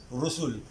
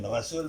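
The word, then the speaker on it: رُسُل: Rusul. Bukan Rasul, bukan Risul, jumlahnya Rusul.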